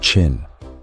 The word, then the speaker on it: Qin: He became king of the state of Chin, pronounced Chin at the age of 13.